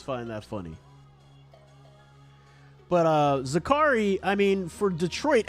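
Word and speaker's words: Zaccharie: Sports on playback yesterday it's pronounced zakari who knew I mean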